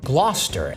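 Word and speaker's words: Gloucester: Gloster.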